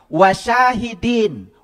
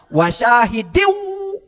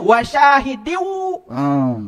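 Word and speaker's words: وَشَاهِدٍ: Harusnya wasyahidiw. Gitu. Kan saya bukan sedang ngajarin Quran, ya. Kan saya bacanya pisah-pisah, wasyahidin wa mashhudin gitu. Saya tahu, ya. Saya tahu, ya. Itu yang namanya kasroh, kasrotain menghadapi waw, itu idgham bigunah. Dibacanya wasyahidiu. Gitu tahu saya.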